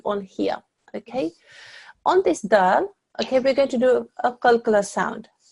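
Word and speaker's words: دال: Now the dal, okay, the way you pronounce it is take the tip of your tongue and you touch the top of your mouth just behind your front teeth, okay?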